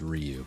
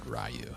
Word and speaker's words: Ryu: with you later I I know the correct way to pronounce it is Ryu but I've always said rayu as well um where